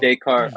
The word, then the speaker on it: Descartes: Even if I'm going to say his name wrong, Descartes. Yeah, Am I saying that Descartes. right? Yeah. Descartes.